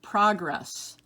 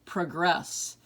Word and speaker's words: progress: Number 1, progress or progress. You notice that we have different emphasis when we read those. Different syllables are accented.